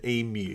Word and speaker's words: emu: It's not oo, it's you. It's an emu.